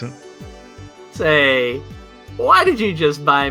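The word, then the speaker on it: Sei: If you're ever curious about how to pronounce it. Say.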